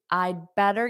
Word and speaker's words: I'd better: And you almost don't hear this D. This I'd is short for I had better. Grammatically, it's not I better. I better study. I had better. But natives pronounce this 95% of the time in the contraction. So in spoken English, it sounds like I better. I better. Because this D is really not pronounced, but it's I had better.